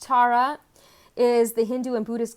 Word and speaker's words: Tara: Okay, so Green Stara, pronounced Tara, is the Hindu and Buddhist goddess whose name means star in ancient Sanskrit.